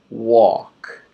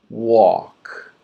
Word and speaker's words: walk: This is a silent L. This means we do not pronounce the L.